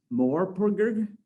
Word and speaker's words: MMORPG: Tom is currently writing the Hijinks webcomic for Missing Worlds Media, a tie-in to the upcoming City of Titans MMORPG, which I guess is pronounced Morpurg.